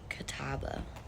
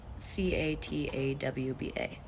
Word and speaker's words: Catawba: I think it's pronounced Catawba tribe. Catawba.